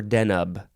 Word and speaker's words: Deneb: the next word is deneb or denub capital d e n e b deneb noun from Circa